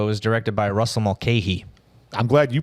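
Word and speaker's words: Mulcahy: No, it was directed by Russell Malke. I'm glad you pronounced that name because I was going to be like, Mahee.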